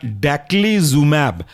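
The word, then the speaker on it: daclizumab: Antagonist और इसके अंदर का एग्जांपल है बैसिलीसिक्सीमैब, स्पेलिंग है बैसिली, BASILIXIMAB, बैसिलिक्सीमैब, मोनोक्लोनल एंटीबॉडी। दूसरा है आपका डैक्लीजुमैब, डैक्ली, DACLI और जुमैब, ZUMAB, डैक्लीजुमैब।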